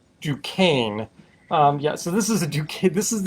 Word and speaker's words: Duquesne: so this this is the duquesne or if you're pronouncing it appropriately is ducane um yeah so this